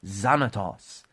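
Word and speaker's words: Xanatos: 94 where billionaire david zanatos listen to his last name zanatos and it's spelled with an x so you know that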